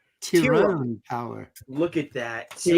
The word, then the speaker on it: Tyrone: it's it's pronounced tyone tyone power look at that and you're making fun of me with muus and now we're all find out everyone's name that's because it's I know that's the Irish pronunciation hey uh guys I've